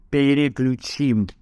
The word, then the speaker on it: переключим: Переключим. Дима, запомни, переключим, правильно ударение ставить.